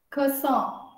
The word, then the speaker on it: croissant: Croissant. So even in the end, the N is croissant. So it's like the nasal thing.